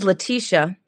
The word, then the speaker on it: Laticia: So in the Greek culture, it's spelled L-E, like Laticia. But my mother changed the E to the A, and it's Laticia.